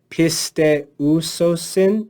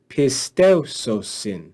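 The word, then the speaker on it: πιστεύσωσιν: So instead of saying pisteusosin, it's Mm-hmm. actually pisteusosin. Oh, Pisteusosin. So you put those together and read it as one syllable.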